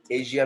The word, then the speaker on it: Asia: एशिया में आना है. ओके, उसको एशिया नहीं एशिया बोलेंगे, रियल प्रोनाउंसिएशन एशिया है उसका.